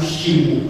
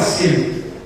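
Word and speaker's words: שם: Souvent les gens disent c'est pas Sem, c'est Shem, Hachem, c'est-à-dire le nom.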